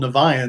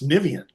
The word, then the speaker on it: Niviane: Europeans are telling us you guys are pronouncing it incorrect it's niveen and we're like oh